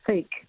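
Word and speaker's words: PHEIC: it also means if what's called a fake that's a terrible name but that's what that's how you pronounce this abbreviation p-h-e-i-c if that is declared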